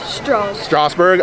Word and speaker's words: Strasburg: Strass or Strauss? Strasburg.